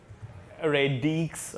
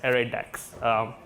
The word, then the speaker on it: ArrayDeque: English Dutch Stack Exchange it's not a raid EQ it's not array it's not array array dekes it's a raid X it's like a deck of cards alright alright